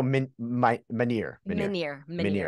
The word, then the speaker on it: Minear: use your last name just in case I mispronounced it so I'm really glad that in full disclosure you know so Minier yes okay cool so meniere Invisible Woman check it out we'll have all